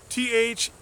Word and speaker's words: Thiel: And then there's also Peter Thiel, I think you pronounce his name, Theil, founder of PayPal.